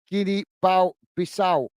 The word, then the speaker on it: Guinea-Bissau: And together pronounced as Guinea-Bissau.